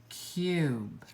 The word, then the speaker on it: cube: Remember, a long U is either U or oo. We can hear either sound, but in this word, it's U, cube.